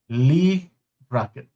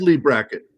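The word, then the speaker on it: Leigh Brackett: Black Amazon of Mars is a science fiction novel by Lee Brackett. Okay. Sorry for what I just did to that name. It's set on planet Mars featuring Lee. It is Lee Bracket.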